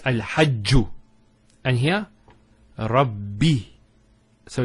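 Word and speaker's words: رَبِّ: The first Ba takes a Sukoon. And the second takes a Kasra. So it's Rabbi.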